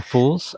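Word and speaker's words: Phule: adventures and how do you say is it fuels company Oh fools I think it's holes okay so it's @f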